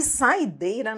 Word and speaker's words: saideira: Saideira. Sílaba tônica é o EI.